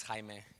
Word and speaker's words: Jaime: My name is Jaime, and I'm really happy already to hear that they pronounce it really well, because it's not easy.